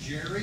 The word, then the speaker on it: Gerry: His name was Elbridge Gerry, and he was a senator.